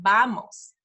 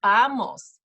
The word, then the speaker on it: vamos: okay like Valentine's Day in Spanish the letter V is kind of like a letter B it's almost like in between a b and a v so vamos vamos it's more like a b than a v so if you had to pick you would say vamos not vamos okay so uh